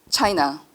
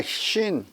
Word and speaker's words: Chine: 이후 메타스타시오의 에로우 차이니스, 볼테르의 로필린 데라 차이나, 머피의 오펠랭 들라 신 오펠랭 들라 신 해봐. 불어갖고 잘 읽더만. 머피의 디 어퍼. 로펠랭 네. 로르펠랭 들라 신. 차이나가 아니라 신이에요. 불어로 발음할 때.